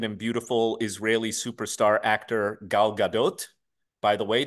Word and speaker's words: Gal Gadot: beautiful Israeli Superstar actor Gal Gadot by the way the t is pronounced it's not French it's Hebrew Gal Gadot she played Wonder Woman